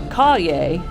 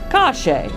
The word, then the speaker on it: calle: of Buenos Aires, is the change of the double L from ye to she. So, for example, the word for street, calle, would instead be pronounced cache.